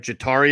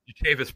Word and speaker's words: Jatavis: Jatavis Brown. You mean? What did I say? Jatari? Jatari Brown? I don't know. I think I was combining two names there. Yeah. Jatavis Brown. Jatavis Brown. Correct.